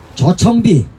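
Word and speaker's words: ᄌᆞ청비: 자, 그 다음 여러분들이 잘 아시는 저청비 자청비라고 보통 발음하는데 아래야 써서 저청비입니다. 예. 따라해보겠습니다. 저. 저. 네, 오도 아니고 아도 아니죠. 저.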